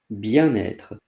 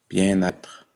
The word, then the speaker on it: bien-être: Here I will talk about bien-être.